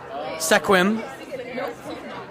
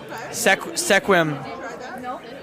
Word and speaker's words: Sequim: Issaquah, Sequim, Sequim, Sequim, Sequim, Sequim, Sequim. This is not one that I think you can sound out.